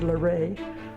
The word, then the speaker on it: LaRae: I said, LaRae.